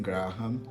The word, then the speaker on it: Graham: roteiro original do Stephen Graham. O Stephen Grahan, a pronúncia, acho que é Grahan, eu já ouvi algumas pessoas prem pr pronunciarem Graham, mas se eu tô pronunciando Graham.